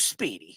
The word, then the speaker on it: Speedy: And from the Connecticut School of Broadcasting, his name always rhymes with meaty. It is Speedy.